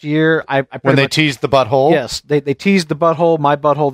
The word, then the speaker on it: The Fractured But Whole: people are killing me just calling it the fractured but whole yeah when and that's just outright is just a mispronunciation when they tee's this